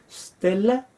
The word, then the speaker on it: stella: el diccionario dice Stella con s y d l se pronuncia como l stela gu ae stele tal vez